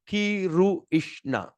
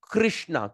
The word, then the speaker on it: Krishna: R dot at the bottom, we're going to pronounce it rrr, rrr, all right?